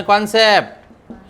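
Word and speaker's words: concept: सांगितलं ना कॉन्सेप्ट याला कॉन म्हणायचं कॉन काय म्हणायचं कॉन कान नाही कॉन मग कॉन कसून सुरुवात होणार पॉपकॉर्न कॉन च स्पेलिंग कॉन नाही सी आर एन कॉन तस कॉन कॉन्सेप्ट आणि याच काय मला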